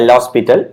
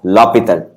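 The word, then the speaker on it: L'Hôpital: l'hopital's rule this is not pronounced as a la spittle it is pronounced as la Pieta yeah which is which way is easier see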